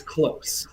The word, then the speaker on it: KLOS: German um so the the line over the O gives you that o sound it's close just like you know this object is close to me I've heard a lot of different pronunciations of it but uh yeah it's it's close guitars just like uh you know we're uh you know close as in distance I guess perfect good to know